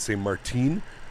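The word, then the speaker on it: Saint-Martin: did you know that each side of the island is pronounced different ways one side saint martin and the other side say martine it's crazy man i'd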